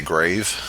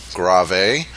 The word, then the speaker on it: grave: to fool your eye Groff a is the one that students usually mispronounce and they usually say grave but let me go down them so you know how they're pronounced there's Largo Groff a Adagio andante moderato alligretto